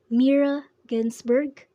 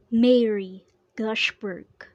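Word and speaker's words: Mirra Ginsburg: rain mary gosh bird the learner mispronounced the name of the author instead of saying meera ginsberg he said mary goshberg one day an ant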